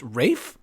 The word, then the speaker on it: Ralph: being a darling Erika isn't Ralph CNAs name pronounced Rafe wait what yeah what